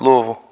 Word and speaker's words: Louisville: um is it okay you just said like you kind of like roll it off the T you're like Lille is it Lille or you almost got it you almost got it IID say locally it's the Ville is more v v Lille louville Louisville Louisville it kind of just like in the throat you're just like yeah